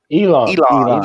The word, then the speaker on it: Elon: add anything about uh ellen ellen musk is that how you say his name elon elon this is a fun